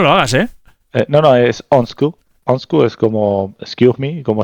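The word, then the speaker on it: undskyld: Onsku es como excuse me, como llamando la atención a alguien. Onsku, sí, pero la pronunciación debe ser lejos de eso, pero es eso.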